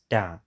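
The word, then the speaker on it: 大: this character in Chinese this is pronounced da which means big in this straight line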